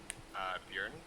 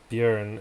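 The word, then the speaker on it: Bjørn: with Norwegian, my reference word is Björn. Björn, is that spelled with an S or something?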